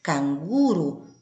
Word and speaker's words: canguru: Com as sílabas tônicas em locais distintos, fazendo com que a pronúncia seja diferente. Canguru na língua espanhola, canguru na língua portuguesa.